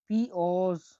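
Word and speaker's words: piyoz: এবার আমরা পরবর্তী অক্ষরে যাচ্ছি, সেটি হলো পি, পি কে উচ্চারণ করা হয় উজবেকে প হিসেবে। উদাহরণ আমরা দেখছি, দেখুন, পিওজ, পিওজ, পিওজ মানে পিয়াজ, দেখছেন বাংলার সাথে কত মিল। তাহলে আমরা বাংলায় বলি পিয়াজ, আর উজবেকরা বলে পিওজ, তাহলে পিওজ মানে হলো পিয়াজ বা অনিয়ন, পিয়াজ।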